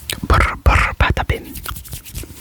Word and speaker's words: Patapim: Patapim is going to be hard to pronounce accurately in this video, because I have to do that patapim, patapim, patapim with a trill.